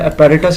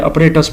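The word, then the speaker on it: apparatus: जो वर्ड है ना ये है अपेरेटस इसको अक्सर लोग गलत प्रोनाउंस करते हैं अपरेटस पढ़ते हैं तो अपरेटस वर्ड नहीं होता अपेरेटस होता है तो ये चल एक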